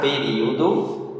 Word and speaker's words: período: Período é uma palavra proparoxítona. Em Portugal ela é paroxítona, não confunda, mas no Brasil ela é proparoxítona, tem 4 sílabas. Período. O ri e o ó se separam no português brasileiro.